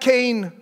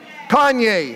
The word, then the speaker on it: Kanye: never pronounce his name it's not Kayne West it's wet Kanye okay and so he was